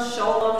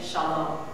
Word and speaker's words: shalom: So instead of shalom, sholom, shulom, you know to say shalom.